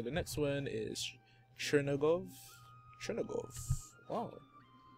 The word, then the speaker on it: Chernigov: Chernigov. Wow.